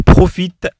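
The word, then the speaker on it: profitent: أيضا نفس النطق لكن il profite avec S. Il avec S. Et aussi profite. On écrit à la fin ENT.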